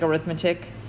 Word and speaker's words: arithmetic: know it looks like arithmetic. It's pronounced arithmetic because it's an adjective and not a noun.